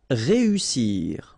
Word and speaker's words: réussir: Réussir. Okay, so here, vowel, second vowel here, and then double S. So in that case, you've got to pronounce it like a real strong S.